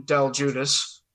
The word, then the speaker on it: DelGiudice: you listening out there my name is dell judas that's how you pronounce that name it's almost like it